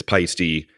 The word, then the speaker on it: Paiste: thank you pisty America so I think that's pretty clear that it's it's pisty but I've got one